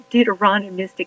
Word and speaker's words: Deuteronomistic: all about the dter deuteronomistic history and they made it rhymed with supercalifragilistic dorano Mystic it's important